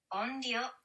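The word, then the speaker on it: onryō: Onryo. Onryo? Onryo. So it's spelled O-N-R-Y-O.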